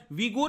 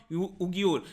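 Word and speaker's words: Uyghur: Xinjiang province में यहां पर जो एथनिक माइनॉरिटी है, मुस्लिम्स हैं, वीगुर मुस्लिम, आप ध्यान रखिएगा इसको वीगुर के नाम से प्रोनाउंस करते हैं, नॉट उगियुर।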